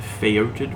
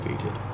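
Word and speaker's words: Foetid: The Feoted one? Feated? Feoted? I know it's pronounced Feated, but what are you going to do? I like to try to pronounce things phonetically sometimes.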